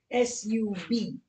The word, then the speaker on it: subtle: It's written subtle, S-U-B-T-L-E. But it's subtle, subtle. How do I pronounce these three words?